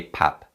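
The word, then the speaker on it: 밥: to home meal now in terms of pronunciation PAP changes when it's used with a verb vulgar so the pupa team sounds like a meal matching so we don't say PAGASA we say pan mo Gaza pan mogul so now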